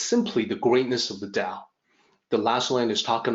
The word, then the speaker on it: 大: and the central theme can be called the dao of greatness so let's focus on that character